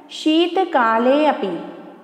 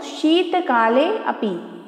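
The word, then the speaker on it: शीतकालेऽपि: एस जैसा चिन्ह है, पुनः स्मरण करवा दूं, एस जैसे चिन्ह को बोलते हैं अवग्रह चिन्ह और इसका उच्चारण ऐसे किया जाता है। तो सुनिए आप लोग, शीतकाले अपि, शीतकाले अपि।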